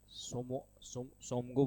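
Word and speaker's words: Tsomgo: है आपका जो है, फिर से टी से स्टार्ट है लेकिन टी साइलेंट रहता है। सोमगो बोल दे, सिक्किम में है सोमगो। ये आपका सिक्किम में आपका जो है टी साइलेंट है, सोमगो लेक।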